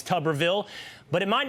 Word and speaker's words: Tuberville: It is Alabama Republican Senator Tommy Tubberville. Okay, Senator, Coach, sorry for saying Tuberville. Sometimes things come out of my mouth that I can't control and I know you well and I know it's Tubberville, but it might not be coach.